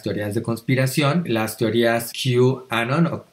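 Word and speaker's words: QAnon: de Conspiración las teorías q Anon o Canon digamos q Anon se se escribe q a mayúscula no no y estas teorías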